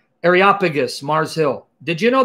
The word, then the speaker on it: Areopagus: his offspring areopagus areopagus i used to pronounce it aeropagus areopagus mars hill did you